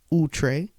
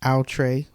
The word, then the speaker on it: Outre: Now I know some people pronounce it Outre, so it's all about whatever your preference is, Outre, Outre.